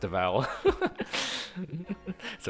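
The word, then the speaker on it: Devall: would say de deal not Deval but it's pronounced Deval so we have to like stop and like say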